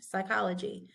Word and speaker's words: psychology: this word is psychology there's no P pronounced psychology psychosis okay when we